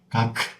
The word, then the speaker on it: 각: But according to the correct way, we don't make the following second sound. 각, 각, 각, 각. 그죠? Very short.